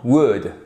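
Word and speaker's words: would: conditionnel avec par exemple word on ne prononce pas le l attention même chose dans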